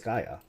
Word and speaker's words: Gaia: more okay alright I've never actually hurts someone pronounce it that way it's always Gaia it is actually quite a tiny thing may